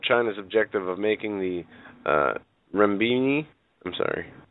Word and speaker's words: renminbi: Goes on to say that it would certainly help China's objective of making the renminbi. I'm sorry. How do you pronounce that?